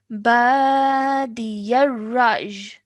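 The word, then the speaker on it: بادي الرأي: Okay, badiyaraj. Badiyaraj. Excellent. Well done. Really good pronunciation. Okay, so a slight y sound at the end. Okay, one more time. Badiyaraj.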